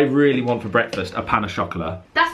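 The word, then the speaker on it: pain au chocolat: Anyway, I really want for breakfast a pan au chocolat. That's not how you say it. How do you say it then? Pan au chocolat.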